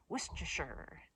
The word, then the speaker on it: Worcestershire: The way you're supposed to pronounce it is put an emphasis on the whoosh. And I like that sound when you go Worcestershire, Worcestershire.